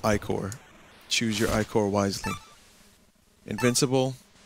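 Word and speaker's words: ichor: I can fill it with magical ior that's pronounced ior choose your iore wisely Invincible absorb nearby treasure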